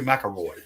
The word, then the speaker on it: McIlroy: Rory McIlroy.